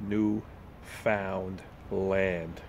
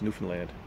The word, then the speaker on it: Newfoundland: It's one word, but it's made of three words. New found land. But when we pronounce it, it's Newfoundland. And if you're not from here, it's Newfoundland or Newfoundland. We're like, no, it's not how you say it.